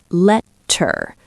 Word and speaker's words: letter: And when I say it, I say letter. It sounds like a D. A soft fast D.